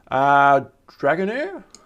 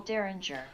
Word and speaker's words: Derringer: 2 of the most famous retro examples include the Austin Magic Pistol and Mattel's Belt Buckle Dragonair? How do you pronounce that one? Buckle Derringer. Belt Buckle Derringer.